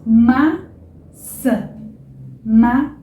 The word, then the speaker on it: maçã: Mas, enfim, quando a gente tem o A com esse tio, ele também vai ser pronunciado bem nasal, tá? Então fica, por exemplo, maçã, ok?